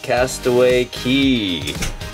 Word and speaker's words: Castaway Cay: Tomorrow we are gonna be here at Castaway Cay. I know it says K, but I guess they pronounce it Key.